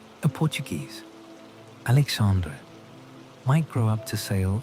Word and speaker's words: Alexandre: The Portuguese language gave the name its own particular sound, softer than Spanish, more nasal, with the final E pronounced as a schwa, creating a gentle ending. A Portuguese, Alexandre, might grow up to